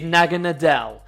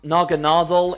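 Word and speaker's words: Naganadel: favorite poison type pokemon of all time is naga nadel yes i am well aware that it's pronounced naganadal in the anime but i've called it naga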